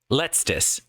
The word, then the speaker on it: letztes: Letztes. Okay, so it's letztes, and then how to say Jahr in German. So final year. Jahr. Okay. Jahr. Letztes, or what was it?